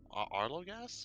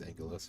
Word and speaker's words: Angelos: should try them sometime Arlo gas or Ang Ang sorry AR loas is that how you pronounce it it's it's Angelos yeah sorry is that